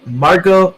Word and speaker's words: Margot: lady Margo Dumont like didn't she have like a French pronunciation of her name Margo Dumont yes okay I thought I thought teaser said it right I just I thought you said I thought you pronounced the T in Margot for a moment there